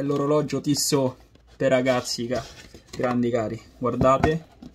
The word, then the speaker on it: Tissot: Anche se si legge Tossit, però è Tissot.